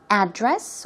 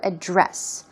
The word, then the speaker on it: address: of somebody's home CH it's used in the noun form and is often pronounced two ways address or address but if it's used